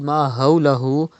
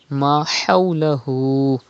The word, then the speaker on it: ما حوله: Pronounce Ha from the middle part of your throat. Do not read Ma hawlahu, but Ma hawlahu.